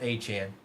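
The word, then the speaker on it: Achane: Um, Achan Brandon, his last name is spelled Achan or is pronounced Achant.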